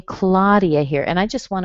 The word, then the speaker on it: Claudia: If you see an AU spelling in English, you're probably going to say ah. So I don't know how you would say your name, maybe Claudia or something, but in English it's Claudia. Claudia.